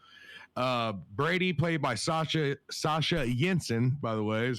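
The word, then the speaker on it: Sasha Jenson: did very well uh brady played by sasha sasha jensen by the way is how you pronounce that sasha jensen did fantastic as well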